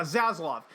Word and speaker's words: Zaslav: How do you pronounce his name? Zaslav? Yeah, Zaslav.